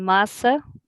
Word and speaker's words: massa: the end it's messeng and masa like pasta masa okay thank you and